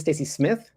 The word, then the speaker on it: Stacey Smith?: So, my name is Stacey Smith, and you do pronounce the question mark. It It's kind of like you say it with an Australian accent.